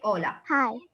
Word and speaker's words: hola: because at the beginning we will not pronounce the itch so we say ola okay so ola here